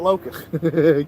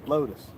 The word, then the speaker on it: Lotus: Yeah, I don't want to say it wrong. Not Locust. Lotus.